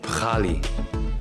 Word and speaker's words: Pkhali: It's called Pkhali, or how they pronounce it, Pkhali.